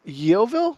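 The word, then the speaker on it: Yeovil: fly from Chris how do you say that YoVille YoVille YoVille YoVille yeah YoVille Town Football Club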